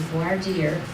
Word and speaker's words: voir dire: that means is, and the French pronunciation is voir dire, but in Texas, as a native Texan, I can say it the other way.